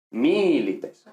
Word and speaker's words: milites: Entonces, si la penúltima sílaba es larga, la palabra es llana. Es decir, si es larga, tiene el acento en esa sílaba. Ahora, si es breve, no tiene el acento en esa sílaba, sino en la anterior. Por eso decimos amoris, pero decimos milites.